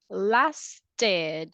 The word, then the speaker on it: lasted: What will be the pronunciation here? Last, Lasted.